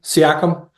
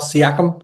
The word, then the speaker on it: Siakam: Siakam. Pascal Siakam.